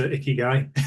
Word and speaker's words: Ikigai: Love that, especially the reference to Ikigai. It's something that You pronounced it right.